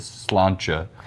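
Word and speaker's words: sláinte: Cuz like like the one that's spelled slainte is slancha.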